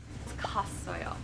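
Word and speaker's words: 갔어요: For example, kada plus asoyo equals Kasayon, right? kasoyo, not ka. We got it. We're Kasoyo. getting this. You know, you're just combining those syllables.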